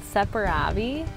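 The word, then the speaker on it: Saperavi: So how do you pronounce this one? This is called Separavi.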